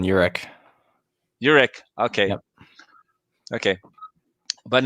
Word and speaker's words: Uhrich: What's the correct pronunciation of your name, by the way? You're spot on, Uhrick.